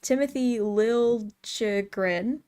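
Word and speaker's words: Timothy Liljegren: it's a little confusing why he wants it with the J sound now I I mean to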